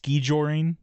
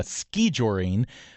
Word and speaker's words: skijoring: It's derived from the Norwegian word skijoring as Ross said which has the O with a line through it.